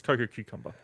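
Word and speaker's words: Cococucumber: It's Coco Cucumber.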